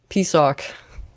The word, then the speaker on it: PSOHK: I believe it's actually pronounced, wait for it, PSOC.